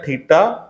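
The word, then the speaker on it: theta: ठीक है, तो ये कहलाता है थीटा, THITA। ठीक है, प्रोनाउंसिएशन इसका होगा THI देन TA।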